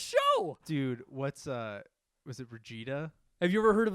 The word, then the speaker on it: Vegeta: Vegeta. Vegeta. Ah, okay. Can't even pronounce the names right, and he's Yeah.